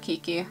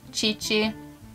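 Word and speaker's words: Qiqi: entire game i got kiki i was lucky it is actually pronounced chi chi but i've said kiki for for an eternity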